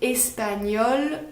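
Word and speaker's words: espagnole: les garçons je suis espagnol pour les filles c'est la même prononciation espagnols espagnols mais à l'écrit on rajoute un e pour les filles voilà mais ça ne s'entend pas comme souvent en français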